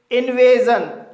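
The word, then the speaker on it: invasion: इसी तरह से इन्वजन इस वर्ड में ए के बाद एस आई ओ एन आया है। इसलिए एस आई ओ एन का उच्चारण जन होगा। इसलिए इसे इन्वेजन पढ़ा जाता है।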